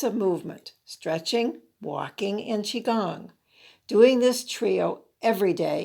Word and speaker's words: qigong: recommend three types of movement stretching walking in qigong doing this trio every day is a life